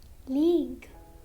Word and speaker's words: league: Letter U is silent after a G and before a vowel.